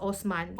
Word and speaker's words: Osman: If Malay, we pronounce this name as Osman.